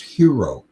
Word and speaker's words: gyro: that that gyro gyro is actually greek and it's pronounced hero so it's for a